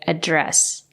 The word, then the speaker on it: address: So remember, if it's a noun, you can say address or address. If it's a verb, you have to say address. You have to stress the second syllable.